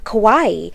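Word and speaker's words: かわいい: foreign country for example Kawaii is a common word used to mean cute or adorable however Kawai without the extra I means pitiful or sad and it is pronounced differently so obviously even one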